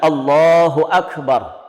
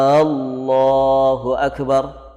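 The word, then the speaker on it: الله أكبر: Lafaz takbir yang diucapkan Allahu Akbar. Allahu Akbar. Ini diperhatikan, ya. Karena sebagian orang mengucapkan takbir tidak tepat. Ada yang memanjangkan a-nya. Allahu Akbar.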